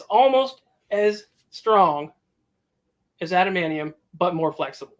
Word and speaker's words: adamantium: But even without the suit being a carbonadium suit or an adamantium suit, I mispronounced that. Yes, adamantium suit.